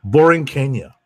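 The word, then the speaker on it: La Borinqueña: Yeah, Boring Kenya. Yes, that's how it's pronounced. He actually told me that himself. Okay, it sounds like Boring Kenya.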